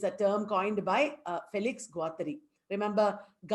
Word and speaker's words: Guattari: And ecosophy is a term coined by Felix Guattari. Remember, not Giles, it is pronounced Gilles.